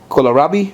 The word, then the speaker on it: kohlrabi: And this is kohlrabi, I think it's how it's pronounced.